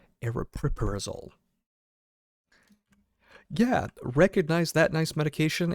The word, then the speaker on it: aripiprazole: Or aripiprazole. If you want the Google pronunciation, here it is. Okay, I got to find it. aripiprazole aripiprazole aripiprazole Yeah, recognize that nice medication and that's where it clicked.